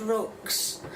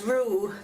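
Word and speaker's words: roux: time I made it I said rocks. So I thought I will find out exactly what it is pronounced. And it says ru that that rhymes with moo.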